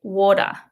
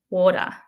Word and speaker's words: water: Um I pronounce the t in water. Some people will say um that word without a t and it becomes more like a d. So they might say water. Water. But I like to pronounce my te's.